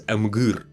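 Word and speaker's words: Emhyr: Nilfgaard, working for Emperor Emir himself. By the way, originally it is pronounced as Amgur.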